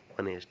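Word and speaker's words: honest: For example कि ऑनेस्ट है। लेकिन यहां पे प्रोनाउंसिएशन में आपको अ देखने को मिलेगा।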